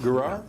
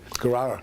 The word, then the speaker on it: Guerrar: Brett Guerrar. How do you pronounce it? Guerrar. Okay. Yes. Guerrar.